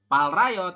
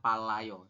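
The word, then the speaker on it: 빨라요: Jadi dibacanya bukan palrayo, tapi dibacanya adalah palayo.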